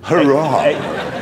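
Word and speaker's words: Huayra: replacement for the zonda it's called the the hurrah so it's spelled h-u-a-y-r-a though you've got a choice now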